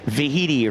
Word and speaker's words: Vaihiti: She reminded me that it's Vahiti, rhymes with Tahiti.